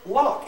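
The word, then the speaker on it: lough: And L-O-U-G-H is pronounced lock.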